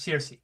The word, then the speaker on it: Saoirse: I cannot pronounce anything based on just like looking at the letters. What But was it's that? Circe. Yes, it's Circe.